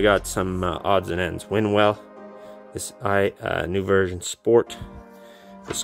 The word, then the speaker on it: Winwell: Winwell, this new version sport, this trilogy.